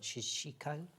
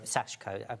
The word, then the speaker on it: sashiko: So for instance, if you're doing your um you can pronounce I can't. Shashiko. Aashiko. Sashiko.